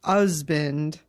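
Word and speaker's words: Huzband: Husband, because the book is spelled H-U-Z-B-A-N-D, pronounced husband, noun, one, a male partner in a marriage.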